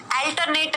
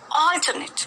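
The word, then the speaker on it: alternate: ठीक है, यहाँ पर चांद बिंदु नहीं, बदलना, ऑल्टर, ऑल्टरनेट, अल्टरनेट नहीं है। ठीक है, अल्टरनेट नहीं है, ऑल्टरनेट। यहाँ पर ऑ की ध्वनि का उच्चारण किया गया है, ऑल्टरनेट।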